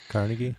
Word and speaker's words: Carnegie: Carnegie. Yeah. So we call him Carnegie. He actually, I guess, pronounced it Carnegi because he was Scottish.